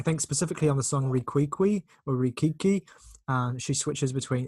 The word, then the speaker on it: Riquiqui: would just note that they put specifically an accent on the last I, so one has to pronounce that differently. Your inflection of any accent on a letter should follow the shape of the accent, so you go Riquiqui, like going up with the accent.